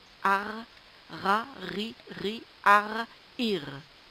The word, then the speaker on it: art: on dit aussi un AR on fait la liaison un AR AR s'écrit a r t mais le T ne se prononce pas un A un riz